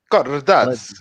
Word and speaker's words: Cardazzi: We have the legend of the Otakucomedy, Cardazzi. Actually, I pronounced it very well.